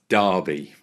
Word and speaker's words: Derby: So it might have an E in it, but it's pronounced Derby, just to be clear. I'm sorry. Um yeah, Derby is a small town.